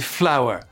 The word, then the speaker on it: flower: c'est de la farine et oui ça se prononce exactement pareil mais ça s'écrit complètement différemment flower flower écoutez bien il y a aucune aucune différence répétez après moi flower